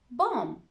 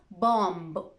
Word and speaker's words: bomb: at the letter b we usually don't pronounce the b when it follows the letter m bom it's not bomb the last sound is m so just pretend that the bee isn't there let's look at more